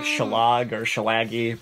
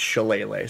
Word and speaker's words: shillelagh: use so much on is pronounced chalene Lee it was like shelah goorsha laggy but it's shillelagh so jessica double thanks